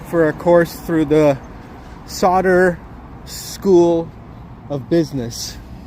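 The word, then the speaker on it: Sauder: a course through the Solder School of Business. S A U D E R Ser School of Business I believe it's pronounced.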